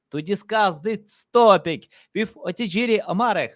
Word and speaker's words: Otejiri Omare: name, but tell for our audience how to pronounce correctly. Okay. So my name is Otejiri Omare.